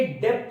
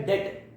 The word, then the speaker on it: debt: याद रखिए, ये डेप्ट नहीं है, DEBT डेप्ट नहीं होता, ये होता है डेट, जिसमें बी साइलेंट है.